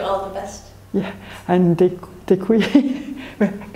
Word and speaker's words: děkuji: Yeah, and děkuji. How do you pronounce this properly one time?